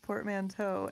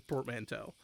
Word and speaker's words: portmanteau: it probably is portmanteau because it's spelled it's basically like the the teaau is is definitely like the same as Plateau so it's probably portmanteau